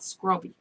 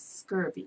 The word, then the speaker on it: scurvy: Bermudians pronounce it scrubby. But the correct name is scurvy. Scurvy. Yes. And we say scrubby. Correct. We put the B in there instead of the V.